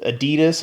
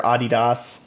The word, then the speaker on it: Adidas: They also recently did a collaboration with Adidas or Adidas, however you like to pronounce it, that I think is pretty legit.